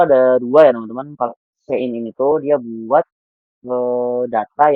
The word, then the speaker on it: cin: C in bacanya C in ya, Teman-teman.